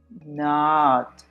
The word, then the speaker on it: not: Ah, so you see it's not not rounding your lips, which is what we normally do because we see an o and our Spanish brain wants to pronounce it like an o, not. But no, it's not not because with not we round our lips.